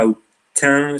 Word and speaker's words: Autun: Esto es un retablo de la catedral de Autun, en Francia, Autun se pronuncia o algo parecido, donde vemos de nuevo que la balanza no es un símbolo tan neutro como nos cuenta el pensamiento dominante, ¿no?